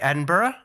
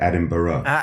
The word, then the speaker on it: Edinburgh: What about that Scottish city you keep mispronouncing? I think I say it right. Edinburgh? That's better. Edinburgh, not Edinburgh.